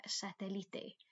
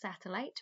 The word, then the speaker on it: satélite: And then this then obviously is la televisión vía satélite. Okay, so that word there, it's not pronounced satellite. Remember in Spanish, you've got to pronounce every letter, separately. So this is satélite.